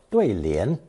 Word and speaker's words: 对: Pronounced fourth tone, 对, 对.